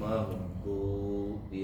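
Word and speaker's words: المغضوب: anathadina anamta alaihim ghairil magdubi alaihim giril magdu magdu magd giril magdubi alaihim w huruf d jangan di Jangan dibaca yang keluar daripada ujung lidah pangkal lidah tepi kanan atau kiri giril Kalau Pak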